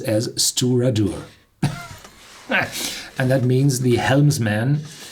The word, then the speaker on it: Stiùireadair: incredible long Gallic name but fortunately the Pradhan pronounces as steward or not and that means the helmsman the people at